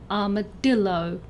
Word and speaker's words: armadillo: For all of these words, the stress is either on the second syllable, as in rhinoceros, or the third syllable, as in armadillo.